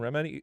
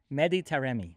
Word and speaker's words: Mehdi Taremi: Bring on Iran and Remedi. I'm sorry. How'd you pronounce it? Mehdi Taremi.